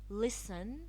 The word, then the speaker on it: listen: silent T silent T some words in English language we do not pronounce the T in them some words I have listed some common words Castle ballet listen we so often can